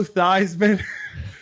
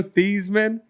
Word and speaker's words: Theismann: His name used to be Joe Theismann. Yes. This is what it's come to. The guy changed it. At one point, the award was prestigious enough to change your name to rhyme with the award.